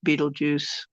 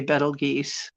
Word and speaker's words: Betelgeuse: Because I was always corrected to Beetlejuice. If I tried to say Betelgeuse, just look at me like I was a stupid newbie or something. But that's the way you'd think it would be pronounced.